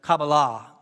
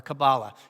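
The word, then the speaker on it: Kabbalah: Jewish mystical tradition of cabala or cabala it's pronounced both ways there are six periods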